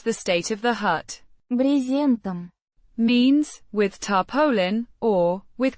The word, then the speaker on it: брезентом: Брезентом. Means with tarpaulin or with canvas. Pronounced Брезентом. with the stress on the first syllable.